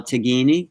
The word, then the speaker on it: Tignini: So I've been talking to TIgnini. TIgnini, is it? TIgnini. TIgnini. And your TIGINI. TIGNI. You don't pronounce the G in Italian.